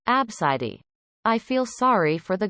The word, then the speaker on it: ABCD: itself is kinda pretty abcd apparently pronounced like abscidi i feel sorry for